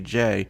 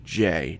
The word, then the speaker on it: Jaye: was introduced as Lady Jaye just a letter J in this issue almost like it was meant to be lady Jo it was later changed to J a ye but phonetically it's the same just two issues later